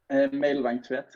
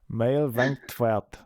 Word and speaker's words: Mejlvang Tvedt: Mejlvang Tvedt. Mejlvang Tvedt. It's a mix. It's a Danish and Norwegian name.